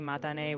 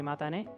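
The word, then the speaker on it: またね: It's definitely matane with a crisp T sound, like in tomato. Any difference you hear might just be subtle intonation. Rest assured, it's simply matane.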